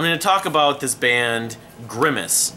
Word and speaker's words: Grimus: talk about this band grimace gri mus grime is grimace Remis it's not spelled like the McDonald's character though when I first got